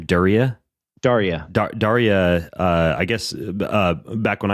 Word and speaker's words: Daria: How do you pronounce her name? Daria.